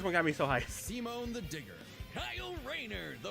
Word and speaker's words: Simon: Pronounced Simone.